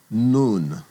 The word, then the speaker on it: Nun: Then the next letter is called nun. And nun gets the n sound n as in nancy.